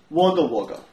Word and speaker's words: Wagga Wagga: Wagga Wagga. How would you spell Wagga Wagga? Oh, I'd spell that W-O-G-G-O-A.